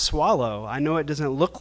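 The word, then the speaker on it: Soileau: North of Austin that name up there is pronounced swallow I know it doesn't look like that but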